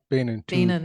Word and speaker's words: Bainan: Bain, am I pronouncing that correctly? How do you pronounce your last name? Bainan, two syllables, yeah.